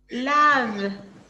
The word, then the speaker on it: lave: No logro diferenciar cómo se pronuncia je me lave, Lave. Tengo que hacer hasta el sonido de la V. Je me lave. No digo la E.